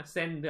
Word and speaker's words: send: Send 아니에요. 이음절 소리 내는 거 아니거든요. Send 아니에요. 그냥 한 호흡에 Send. I'll send.